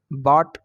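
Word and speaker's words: bought: उस तरह से बॉट, BOUGST यहाँ पर होगा, तो यहाँ पर GH साइलेंट रहेगा, तो यहाँ पर बॉट पढ़ेंगे।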